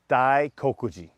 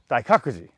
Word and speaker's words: Daikakuji: And near that, there's a temple called Daikokuji. Daikakuji. Yeah, sorry, I just said the name wrong. Daikakuji.